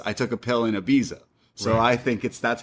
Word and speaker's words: Ibiza: But then, I've always said Ibiza. yeah, I feel like North Americans call it Ibiza, but the true meaning is Ibiza as he schools her on it.